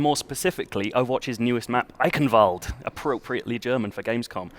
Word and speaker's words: Eichenwalde: speak any German so I'm not the authority on how to how to pronounce it but I've been told it's I Canal okay and here it